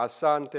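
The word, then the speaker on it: asante: 근데 스와힐리어는 그냥 알파벳 소리 나는 대로 그리고 악센트는 뒤에서 두 번째 모음에 있어요. 그래서 잠보, 아산테 이렇게 합니다.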